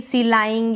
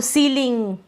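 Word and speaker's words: ceiling: अब यहां पर अगर आप बड़ी आप ऐसे पढ़ देंगे सिलाइंग या गलत पढ़ देंगे। ठीक है? तो सीलिंग कंसीड decide deceive conceive receive protein.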